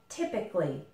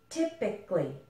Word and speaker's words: typically: typically but we don't we actually kind of eliminate this a and we say it more like typically typically okay you can see